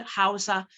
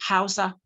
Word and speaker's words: Hausa: the H sorry no in the word hausa the age is pronounced when you listen to hausa speakers they do not say they say hausa okay good thank you